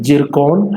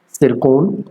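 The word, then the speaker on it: Циркон: अगला जो प्रश्न है, जिरकॉन हाइपरसोनिक क्रूज मिसाइल का परीक्षण किस देश के द्वारा किया गया? इसको सिरकोन, इसमें टी साइलेंट है, सिरकोन के नाम से भी जाना जाता है और जिरकोन के नाम से भी जाना जाता है।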